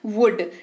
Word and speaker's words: would: अगला शब्द है वुड। WOULD, वुड इसकी स्पेलिंग है। इसके उच्चारण में भी एल का इस्तेमाल नहीं करेंगे और इसका जो अर्थ है वो होता है गा गे गी।